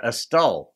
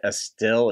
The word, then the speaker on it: Estill: have since been informed as they pronounce it EST or estal maybe yeah somebody posted in the comments we you don't really say a still it's like a still County type deal so fine I'm going